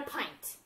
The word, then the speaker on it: pint: a cup and a pint. Pint, that's a long I, even though it looks like it should be a short I sound. It's the long I sound.